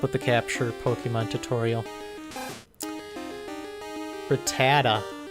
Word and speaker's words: Rattata: the capture Pokemon tutorial Rattata I used to always say Ratatat for some reason I always used to